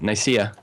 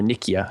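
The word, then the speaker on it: Nicaea: Constantinople to trade to uh Nika or Nikkia, I should say. People pronounce it two different ways. I think the the sea is supposed to be a hard C sound, but that's only if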